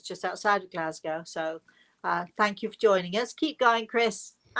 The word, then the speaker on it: Glasgow: Junior is on saying hello from Glasgow, Scotland.